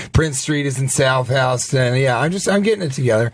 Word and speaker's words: Houston: It's pronounced Houston. That is what it all comes down to. I think so. Because why? It's everywhere else, it's Houston.